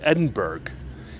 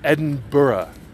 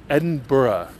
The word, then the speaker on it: Edinburgh: fact that the bloody place is not called Edinburgh it is not called Edinburgh it is pronounced Edinburgh Edinburgh such an ass newscasters at Fox News and